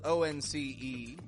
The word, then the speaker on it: once: with the word once it's spelled o n c e with an O spelling but I pronounce it with a W sound w w once in